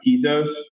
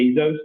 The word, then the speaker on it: Tezos: language do call it Tezos. But also, a lot of us also call it Tezos, kind of like Jeff Bezos, like that kind of a pronunciation.